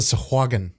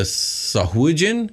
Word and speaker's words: Sahuagin: I used to call them the Sahuagin because that's how it's spelt. Sure. That's what it looks like to me. But Sahuagin. I learned last week that ain't how it's said.